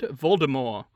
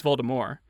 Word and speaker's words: Voldemort: depending on of you isn't how they pronounce it in the movie Voldemort its Voldemort yeah yeah but in the book it's Baltimore at least the audiobook that's how he pronounced and I think believed JK Rowling has come out and said that that's how she intended it to be pronounced as well oh no no that's